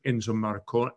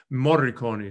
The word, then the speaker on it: Morricone: And very exciting is tomorrow night is Yo-Yo Ma, in a tribute to Enzo Marconi, is that how you say his name? The film composer. Morricone.